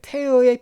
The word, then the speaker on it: tear: 자, turn이란 동사는 이건 tear의 pp형이죠. 찢다는 뜻입니다. tear, tore, torn으로 바뀝니다. 이게 tear를 읽게 되면 눈물이에요. 그땐 발음이 tear가 되고요.